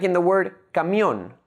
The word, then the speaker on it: camión: Like in the word camión, made up of two syllables, ca and mión. The last syllable, mión, is the stressed syllable.